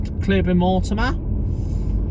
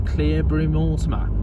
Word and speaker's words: Cleobury Mortimer: So there's the Old Lion pub at Cleobury-Mortimer, and Lower Street Garage.